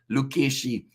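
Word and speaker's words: Lucchesi: I'll help out with the forwards' names, pronunciation Amish. It's Fischetti, Lukeshi, and Ciccarelli.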